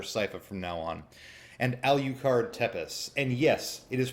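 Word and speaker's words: Alucard: gonna call her psycho from now on and al you card tempest and yes it is pronounced al you card unless you call Dracula Dracula like an Aqua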